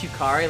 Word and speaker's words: Yukari: Also, I pronounce Yukari like you carry.